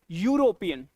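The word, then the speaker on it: European: यूरोपियन यूरोपियन नहीं होता। य यूरोपियन यूरोपियन लिख दूं? य य तुम्हें ई दिख रहा होगा बट एक्चुअली ना इ यू नहीं होता यूरोपियन यू ई तुम्हारा साइलेंट है यस यूरोपियन य का साउंड है दैट्स व्हाई यहां पे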